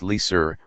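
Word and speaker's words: LSUR: rate of unemployment and LS pronounced Le sir lowest sustainable unemployment rate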